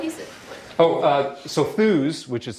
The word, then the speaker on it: Thuuz: name uh derived from so thus which is spelled t huu z uh and I'll have to explain that and actually that's really easy to explain the URL was available believe it or not five letters long and you can kind of look at it phonetically kind of um but it's basically a short for enthusiasm or Enthusiast uh in